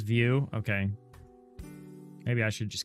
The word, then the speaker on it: Vue: Is it supposed to be Vue? But Vue E. And now you you're on Alpine.js. Okay. Nyx, you hate doing webdev, but it sure pays the bills. That's what it sounds like. Maybe I'm in the wrong Maybe I'm in the wrong business. It is view.